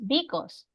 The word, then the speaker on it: because: Natalie, because. Because. Diríamos because. No, right? Because. Okay. So it's on the second one, right?